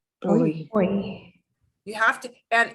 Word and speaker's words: hoy: But H by itself makes no sound at all. It is the only truly silent letter in the Spanish language. That happens in French too. But H will be silent. You'll see a word with it, but they won't pronounce it.